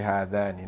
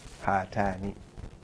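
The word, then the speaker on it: هاتان: You can't say two women, you say hadani. No, that's wrong. You're going to say hatani.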